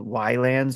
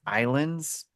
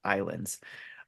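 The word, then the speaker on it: Ylands: it's actually still pronounced Islands but the why is it threw me off so uh but yeah if you go look it up it's why lands but it sounds but it's actually pronounced Islands uh it's basically an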